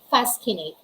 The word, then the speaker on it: fascinate: moscow ski source ascent fascinate letter c is silence in that case all right we have